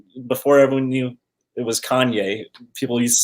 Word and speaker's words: Kanye: household name make sure everyone knows how to pronounce the name yeah one time it was like before everyone knew it was kanye people used to say kane right right right so right now a lot